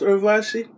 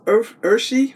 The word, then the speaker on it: Urvashi: It looks like Urvashi, but she said her name wasn't pronounced Urvashi. It's Urshi or Urshi.